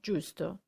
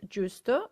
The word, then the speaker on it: giusto: try to remember similarly gusto and justo we have gu on one side giu on the other side the only difference is the eye try